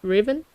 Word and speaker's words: Riven: It's pronounced right Rivet right Riven? R I V E N Just like the regular word.